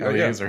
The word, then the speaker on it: Eleazar: Am I pronouncing that correctly? Because sometimes you. That's actually Eleazar, his son.